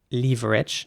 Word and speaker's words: leverage: this is going now in british english it would be pronounced leverage now not everyone says leverage okay in the uk i want to make that perfectly clear some people do indeed say leverage instead of leverage that's indeed the american